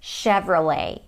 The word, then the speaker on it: Chevrolet: Chevrolet. Some people say that it's from France, though. Chevrolet. Not ch, but ch and not let, but le. Chevrolet.